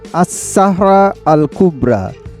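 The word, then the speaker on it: الصحراء الكبرى: সাহারা আরবিতে এর উচ্চারণ আস-সাহরা আল কুবরা, মানে মহান মরুভূমি।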